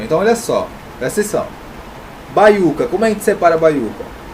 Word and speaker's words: baiuca: A mais forte, a sílaba tônica, está na penúltima, que é o U.